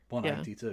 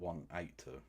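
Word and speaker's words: Blink-182: So I was politely informed by Americans on the Clock app and by members of Blink 182 themselves that it's pronounced that the name is Blink 182. 182, yeah, not 182.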